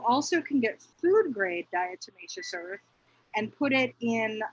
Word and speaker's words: diatomaceous: to pronounce it right what is the diametacious earth diatomaceous earth i knew i wouldn't pronounce it right yeah so diatomaceous earth